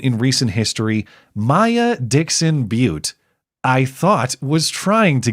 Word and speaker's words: Butte: question, I can confirm my maiden name is pronounced Butte, like the land form.